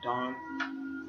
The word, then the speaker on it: Dan: And Dan's name in Hebrew is, you just pronounce it Dan or Don, and it means judge.